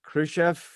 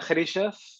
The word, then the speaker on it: Khrichef: I pronounce your last name right. It's Khrichef. Yeah, it's a Khrichef.